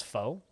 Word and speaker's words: pho: P-H-O is pronounced fa.